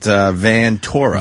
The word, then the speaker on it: Ventura: Ventura. Oh, he does. All right, thank you. Yeah, he pronounces it Vantora. Vantora.